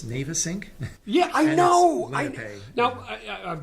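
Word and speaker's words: Navesink: and and um I used to call it nav Ayn my family used to call it nav Ayn but I talked to the local police and said how do you pronounce it they say navyn you say navyn how do you know what's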